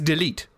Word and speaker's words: Delight: I say delete delete well if it is French it is delete Delight would be if it was because the the E is silence so it's delete delete the E is like unless it has this accent here it's not pronounced at the end like 90% of the time